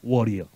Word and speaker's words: warrior: And almighty warrior.